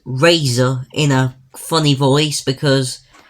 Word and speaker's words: RZR: itself that's quite a cool name rer but pronounced Razer is stupid although to be fair these things